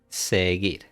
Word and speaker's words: seguir: To follow is going to be seguir. Okay, remember we don't pronounce this one, la U.